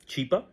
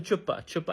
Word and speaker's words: Chipa: So what happened was a humanitarian got involved a humanitarian his name is Chipa Mr. Chipa and she starts pronounc she she starts mispronouncing she calls him chupa chupa and yeah chupa is